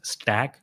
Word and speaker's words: stck: is where you go i say stck because it's supposed to be pronounced stack but some people say take some say stock i don't know what to